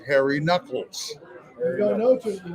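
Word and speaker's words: Nuckols: And I assume his name was Harry Nolas and it's pronounced Harry Knuckles. You don't know till you hear it though. Yeah, I thought Nolas.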